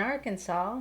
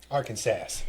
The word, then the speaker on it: Arkansas: border of Texas and Arkansas. Mm-hmm. Right? That's how you say it? Arkansas. It looks like Arkansas. Arkansas. Yeah. We jokingly said that, growing up.